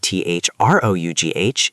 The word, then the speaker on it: through: In the word t h r o u g h, it's oo like blue through.